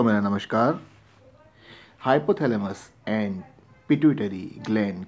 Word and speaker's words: pituitary: देखिए, यहाँ पे जो लिखा है, ये जो पॉइंट है, for many years the पिट्यूटरी, देखिए इसका जो, बहुत बार हम पिट्यूटरी ग्लैंड ऐसा बोलते हैं, लेकिन इसका जो प्रॉपर